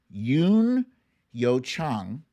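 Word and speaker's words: Youn Yuh-jung: land congratulations to her i got to check for the pronunciation of this lady here because everybody pronounces it wrong and i want to get it right yes it's yoon yo chang huh she won best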